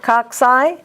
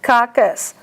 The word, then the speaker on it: coccus: The accent on them is always cock, C-O-C, but the pronunciation is different. Cocci, coccus.